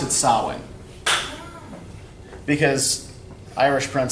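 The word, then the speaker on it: Samhain: that's how you spell it yeah but he pronounced it sowwy because irish / NCA shin is very very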